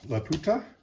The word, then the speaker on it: Lauta: Uh, this one is, uh, Lauta. That's how it's pronounced.